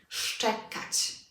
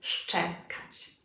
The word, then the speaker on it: szczekać: We need this sh sound in the beginning. Szczekać. Can you hear it? Szczekać.